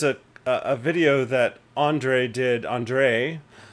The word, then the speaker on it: Andre: Andre, the accent is on the second syllable.